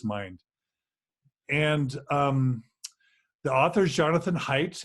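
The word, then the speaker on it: Haidt: and the author's Jonathan heights it's pronounced it's pronounced height but it's H AI D T looks the righteous mind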